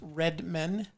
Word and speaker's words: Redman: the home of brown my last name is pronounced red men redman is a german name and means winemaker my family has good recipes